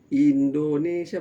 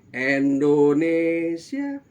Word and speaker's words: Indonesia: kebangsaan kita Indonesia Raya, itu kan umumnya orang tidak membacanya itu dengan huruf I yang bersih. Umumnya orang membaca bukan Indonesia, bukan itu, tapi Indonesia. Nah, untungnya kalau lagu Indonesia